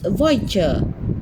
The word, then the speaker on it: voiture: Car is voiture.